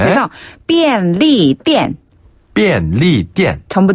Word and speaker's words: 便利店: 이게 삐 할 때 삐. 네. 그리고 삐엔. 삐엔. 엔드 할 때 엔입니다. 그래서 네. 便利店. 네. 哦 띠엔 할 때 띠자는 네. 이 쌍디귿 발음으로 띠엔 하시면 되는데요. 店. 그렇죠. 가게, 점원 할 때의 그 점자 있죠. 무슨 점 할 때.